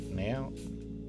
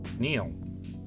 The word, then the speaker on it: Neil: Wait, did I say it right? Nail? It's supposed to be like Neil? Neil? Is Neil the name? Space exploration. Neil Armstrong type name? Neil.